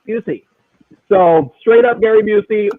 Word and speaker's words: Busey: he looks like he got hit with a buzzy it's pronounced Busey so straight up Gary Busey in a pretty